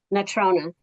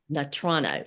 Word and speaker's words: Natrona: And the next group, I'm not sure how to pronounce the um school district. Natrona. Natrono.